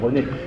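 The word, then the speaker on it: Renée: C'est pas pour rien qu'il l'appelle René. Et aussi parce que, évidemment, le prénom féminin se prononce comme le prénom masculin. Il n'y a de distinction que graphique.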